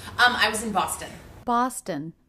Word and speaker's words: Boston: I was in Boston Boston another two syllable city name with stress on the first syllable so the second syllable